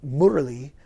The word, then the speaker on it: Murali: Santana's was Devadeep, and John McLaughlin's was Mahavishnu, and I was given a spiritual name, Murali, which is how they pronounce it in India.